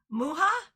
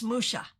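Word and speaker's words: Mucha: Apparently, if we're saying it the Czech way, it's muha. If we're saying it the French way, it's Musha.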